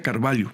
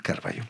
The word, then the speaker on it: Carvalho: LHO, pero como es portugués, la LH se lee L, entonces se pronuncia Carvalho. Carvalho.